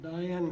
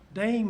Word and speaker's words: Diane: And Diane Crabtree was to bring this before us. I don't see Diane here. She may be out there. Dane Crabtree, I'm sorry. That's spelled Diane. Oh, Dane.